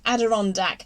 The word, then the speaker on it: Adirondack: you are getting better it's pronounced aderondak adirondack adirondack hmm may not remember